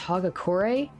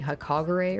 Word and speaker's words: Hagakure: Oh god, it's pronounced Hagakure? Oh, I've been pronouncing that wrong this whole time. I've been saying Hakagure or something like that.